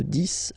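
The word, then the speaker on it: dix: De 10 à 20. Okay, so let's start now. 10, okay, so remember, final X here is pronounced like S.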